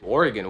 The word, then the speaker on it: Oregon: Originally, the state in the Pacific Northwest was most likely pronounced as Oregon. Oregon? That's crazy. However, over time, that changed to Oregon. Oregon, Oregon, okay? And today's most common pronunciation is Oregon.